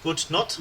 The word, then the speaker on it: Gute Nacht: Gute Nacht. Auf Wiedersehen. Thank you. That'll help. I want to make sure I get my pronunciation right.